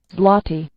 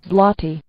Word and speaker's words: złoty: Is that how it's pronounced? Zloty? Zlot Zlotich? How do I pronounce Polish zlo Złoty in English. Tell me. Złoty Oh man, come on now. Złoty Złoty Złoty Ah, I can